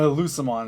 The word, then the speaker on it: Lucemon: The next one, is this a hard C or soft C? A Lucemon? It's a Lucemon. A Lucemon is a soft C.